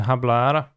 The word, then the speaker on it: hablar: that's the deck then i don't pronounce the h in hablar yeah which is why